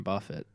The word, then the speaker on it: Buffett: Okay, I always thought that it was the real last name of Warren Buffett.